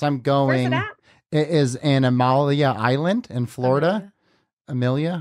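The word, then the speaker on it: Amelia Island: independent one yes I'm going it is in Amalia Island in Florida Amilia how do you say it Amilia Island yeah oh my gosh that's right by my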